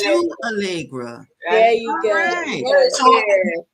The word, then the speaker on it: Chou Hallegra: it's Shoe Allegra.